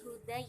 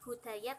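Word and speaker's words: هداي: Ini hudai ya, bukan hudaya tapi hudai.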